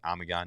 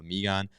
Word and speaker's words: Amigon: I apologize but now I know it's amigon not amigon so Lance M Lance